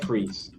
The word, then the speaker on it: Fries: It sounds It's spelled like fries, but sounds like freeze.